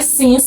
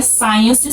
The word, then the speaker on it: since: continua fazendo aquilo o Sens já é o desde tá a palavra é Sens não é Science Science é Ciência se